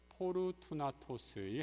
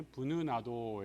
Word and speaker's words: 포르투나토스: 스테파나 그리고 포르투나토스이 헬라어식으로 발음을 해서 예전에 부느나도 이렇게 얘기했는데 좀 발음이 좀 많이 달라지는 것을 보게 됩니다.